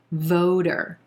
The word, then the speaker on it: voter: this word becomes voter voter notice that t becomes a flap t which sounds like a soft d voter voter that second syllable is going to be very soft and light voter are you a